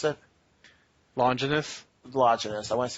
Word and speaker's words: Longinus: And he decides to get the guy to stab him with the spear of how do you pronounce it? Longinus? Longinus. I want to say Longitis for some reason.